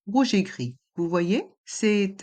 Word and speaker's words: gris: Et dans le mot gris, le S est muet. Rouge et gris.